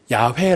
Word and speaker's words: 야훼: 또 학자들의 연구에 의하면 가장 그래도 좀 비슷한 근접하는 것이 야외 라는 이름으로 부른다는 것입니다 자 이름이다 다른 것이